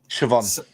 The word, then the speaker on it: Siobhan: Sorry, Siobhan.